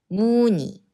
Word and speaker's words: 문의: 거의, 거의 예의, 예의 회의, 회의 And when 의 combines with other consonants, not 이응, then 의 should be always be pronounced as 이. 저희, 저희 희망, 희망 문의, 문의 예 is the last pronunciation mistake.